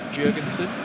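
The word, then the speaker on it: Jörgensen: it by the way Premier League released their pronunciation videos last week said jurgenson so you should trust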